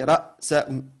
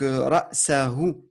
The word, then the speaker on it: رأسه: Tu as dit ra, sa, ou. C'est pas. Enfin, essaie de prononcer, malgré que c'est un peu plus difficile vu que tu es d'origine francophone, toi. Donc, ra, sa, hu.